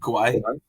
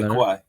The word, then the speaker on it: Kauai: Kauai? Like yeah, Kauai.